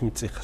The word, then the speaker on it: Мацих: Допустим, Катик и Мацих, населенные пункты в той же зоне, произносится как Китик Мицих сейчас. Ну, хотя это изначально Катик Мацих.